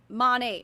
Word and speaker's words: Monat: pretty obvious to me cuz like monate modern nature like that's that's how it should be but like they all